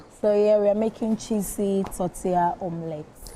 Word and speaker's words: tortilla: used to think that when you see that tortilla, like the double L, you probably think it's tortilla. Yeah. Until they started correcting like that, but not pronounced. Not pronounced like that. So, it's tortilla.